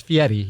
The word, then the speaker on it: Fieri: of Guy Fieri yeah it's fiatti you got to pronounce that right oh my gosh well